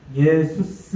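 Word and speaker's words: Ἰησοῦς: 그래서 예수스 이렇게 이제 발음이 되고요.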